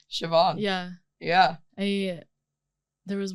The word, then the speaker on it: Siobhan: spelled yeah s i o b h a Shin savan sioban yeah yeah a there was one girl also